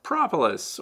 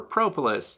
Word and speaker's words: propolis: I have noticed that propolis, or propolis, depending on how you want to pronounce it, seems to be the heaviest at the ends of the frames where we tend to hold them.